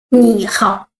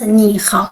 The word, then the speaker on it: 你好: 你好. You see? When two words all the third tone, we change the first word to the second tone, not 你好, but 你好, 我, 你好, okay? 你好 means hello.